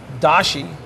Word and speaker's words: dashi: is hockey mushrooms edamame dashi which is really called da she's the a Japanese based Universal stock in French kitchens chicken stock is in Japanese it's da shi da she's a combination